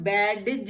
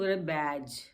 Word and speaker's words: badge: अब देखिए ये हम बैडज नहीं पढ़ते हैं, हम इसको बैज, बैज पढ़ते हैं, क्योंकि G से पहले D है इसलिए ये साइलेंट हो जाता है।